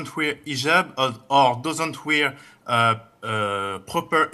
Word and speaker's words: hijab: with an h and I know in France they don't pronounce the h when it is in the beginning of the word as in otel or